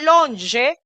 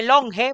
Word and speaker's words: longe: Este longe, que se lee longe, pero es longe. La fonética de la letra G con la vocal E es Y.